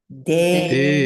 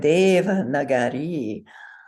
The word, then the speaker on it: Devanagari: Last I is long. Say again with me. Devanagari. Yes. So in Devanagari, the first vowel is